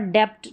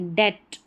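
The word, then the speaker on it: debt: ठीक है, डाउट, डाउट, अब डाउट बी नहीं पढ़ा जा रहा, यहाँ पर डेप्ट नहीं पढ़ेंगे, डेट, और यहाँ पर सब्टल नहीं, सटल।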